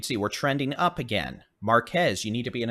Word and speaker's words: Marquez: flooding because well that is pronounced Marque by the way uh forget that Z exists so Marque what he said marqu